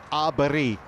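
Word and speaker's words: Åberg: I think it's Arberi is how they say it in Sweden, but I mean, we're going to go Aberg, aren't we?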